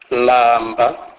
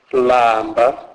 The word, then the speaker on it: lamba: L is pronounced as in the English word land, e.g. lamba, lamba, which means be hungry.